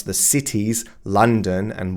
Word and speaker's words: London: So, they just assume, well, this is how we pronounce it in German. This is going to be understandable in English as well. But this is Lon Washington. That's their German pronunciation rules. They're not English pronunciation rules.